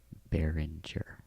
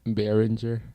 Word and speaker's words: Behringer: I think that's pronounced Behringer. Behringer.